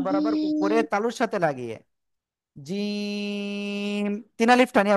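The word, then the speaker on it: جيم: না দেখেন আমার দিকে জিহ্বার মধ্যখান তার আবার উপরে তালুর সাথে লাগাতে হবে জিহ্বার মধ্যকান উপরে তালুর সাথে লাগাতে হবে।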